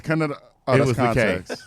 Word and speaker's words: Khntxt: pronounce context.